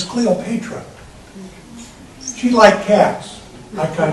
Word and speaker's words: Cleopatra: Now you might pronounce it Cleopatra, but the correct pronunciation is Cleopatra.